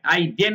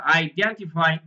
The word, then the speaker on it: identify: দিচ্ছে ইজ টু আইডেন্টিফাই উচ্চারণ খেয়াল করেছেন আইডেন না কিন্তু আইডেন্টিফাই first task is টু